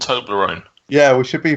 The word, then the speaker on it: Toblerone: Toblerone come from?